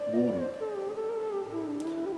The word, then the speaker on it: guru: Lembrando que isso não tem nada a ver com acentuação tônica. As palavra é oxítona ou paroxítona. Nenhuma das duas. As duas sílabas têm o mesmo peso. Guru.